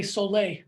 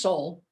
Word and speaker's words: Solle: it funny i mean a lot of people still say soleil because you've got that e on the end soleil and it's really just soul s-o-l-l-e soul why did we choose